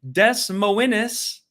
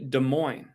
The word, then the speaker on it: Des Moines: to continue the sellout success because we have Des Moines is how some people pronounce it but it's actually Des Moines I was corrected last year on that Sacramento